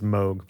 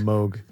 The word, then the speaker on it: Moog: I believe it is Moog because I believe how we going to remember that Moog. Moog. That's the way who's you know the guy who invented it pronounces.